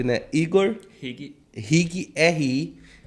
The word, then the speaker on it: Igor: Júnior Ribeiro, perfil @Igor, como se lê, né? Se lê como se escreve, né? Igor Rig, RIGGHI, e também, é claro, o @ da nossa produtora Desígnio.